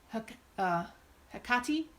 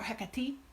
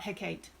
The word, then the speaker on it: Hecate: witchcraft all the way that H is almost entirely silent my understanding is it is either hook okati or hickety but it is very light on the h and it is definitely not Hecate and then this is